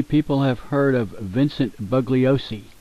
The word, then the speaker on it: Bugliosi: have heard of Vincent bugliosi or buosi I think the g is silent buosi well he knows uh